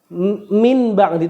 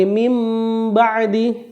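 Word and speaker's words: مِنْ بَعْدِ: ba contohnya mim ba'di bacanya bukan Min ba'di tapi mim ba'di ya samiam bashiro samiam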